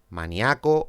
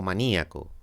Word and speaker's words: maníaco: alvéolo a un tri a co un austriaco maníaco o maníaco ósmosis ósmosis hemiplejia hemiplejía vídeo vídeo adecua adecúa